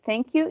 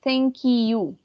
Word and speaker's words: thank you: Recuerden que you suena como you, como una I. No you, sino you. Entonces, como suena como una I, la K la vamos a conectar con la I. Thank you.